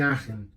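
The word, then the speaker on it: Aachen: particularmente fiz a o meu estágio lá em Aren se escreve aen a a c e n é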